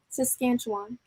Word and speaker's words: Saskatchewan: Saskatchewan.